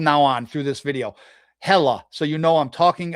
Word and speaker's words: Hela: So Helheim is the home of hell, and Hela, however you want to pronounce it. Some people pronounce it with the A on the end. I'm going to do that from now on through this video. Hela, so you know I'm